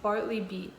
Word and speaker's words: Bartleby: Like it's a spray hand sanitizer, and Bartley is at Bartleby. That's how you say it, Bartleby.